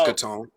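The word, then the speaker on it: Caton: Miles Katone. Uh Miles Katone. Katone. Okay. Katon. That's how you pronounce it.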